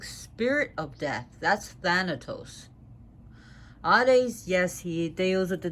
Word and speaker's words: Hades: he would be pronounced Hades. They do not pronounce the H the way we do it, the Hades.